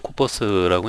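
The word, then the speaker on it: corpus: 자, 우선은 이제 발음은 이제 코퍼스라고 이제 발음을 하고요.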